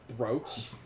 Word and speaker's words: brooch: gold bro a CR it's spelled BR but brooch sorry have an N